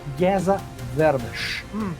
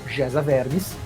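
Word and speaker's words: Géza Vermes: aqui, que é o Geza Vermes, que se lê Geza Vermes, mas pronuncia-se Geza Vermes.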